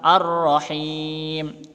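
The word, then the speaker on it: الرحيم: alif lam syamsiah ya ar-rohim ini roknya asdit maka harus ditekan ar-rohim shrimp gitu ya ini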